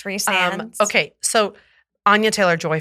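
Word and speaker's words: Rhysand: name kale kale chho and then and then Ry sand which is reand that's I pronounce it Ry sand until I listen to somebody else say it and I go that's embarrassing yeah it's reand okay so Ana Taylor joy for her very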